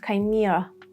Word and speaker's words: chimera: Situation 3, when there is CH, like chimera, archive, orchestra.